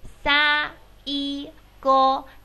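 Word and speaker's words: 最後: 赛狗不是赛狗啊，是撒一狗赛狗，赛狗就是最后的意思。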